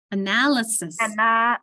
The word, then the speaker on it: analysis: So an analyze, notice my accent is on the first syllable, analyze. So an analyze, the second syllable is schwad, but an analysis, notice I'm putting more emphasis on the analysis. And actually, this is a schwa, isn't it? In analysis. It's not analysis, it's analysis.